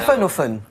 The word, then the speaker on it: Pfaffenhoffen: Est-ce que vous pouvez juste reprononcer le nom de la ville pour Emma, parce qu'elle est C'est fascinante. Pfaffenhofen.